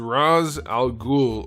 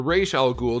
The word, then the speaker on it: Ra's al Ghul: McFarland toys DC Multiverse Roz Al ghoul or Ray shall ghoul depending on if you pronounce it that way from Arkham City let's do a question of the day I know I've asked this before but I don't know if I ever got a consensus how do you pronounce this guy's name I have always called him Roz and I think that's how they called it pronounced it in the Animated Series where'd they come up